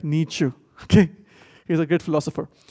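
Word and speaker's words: Nietzsche: I just couldn't put the right font here the size but the name is Frederick Nichu it's pronounced as Nu not like Nichch in India like Nichu okay he's a great philosopher now he said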